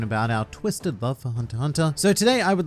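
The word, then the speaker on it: Hunter × Hunter: shocking fact number 10 you do not pronounce the x in hunter hunter i must apologize for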